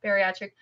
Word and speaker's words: bariatric: this word B please say it for me batric batric byass I can never say it right I'm sorry about that bariatric bypass and uh which features Adrien and she's